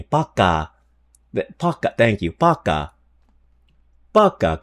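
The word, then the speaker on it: пока: Baka with a P. Paka.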